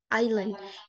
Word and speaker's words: island: to is jadi misalnya contohnya pada kata Island itu ditulisnya tapi kita bacanya tidak dibaca s nya jadi Oke lanjut next